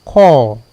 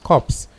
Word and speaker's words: corps: If you're out there listening to us, the word is call, not corpse. You say corpse, you mean there is an E at the end of the word, and that means a dead body.